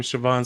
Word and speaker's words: Siobhan: And the girl comes up to her and says, hi, I'm Siobhan Smythe.